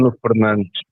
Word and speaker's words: Bruno Fernandes: Bruno Fernandes. There we go. There we go. Perfect pronunciation, man.